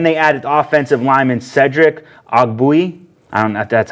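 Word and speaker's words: Ogbuehi: receiver and then they added offensive lineman Cedric OGG Booey that's how you say it they got tight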